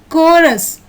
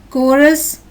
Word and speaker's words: chorus: In the second picture, the syllables CH are pronounced as k, choir.